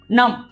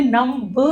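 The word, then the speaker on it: numb: इसी तरह से एन यू एम बी नम। इसमें नम ब नहीं बोलेंगे।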